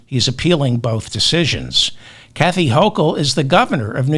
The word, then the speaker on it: Hochul: I think it's pronounced Hochul. I'm going to go with Hochul.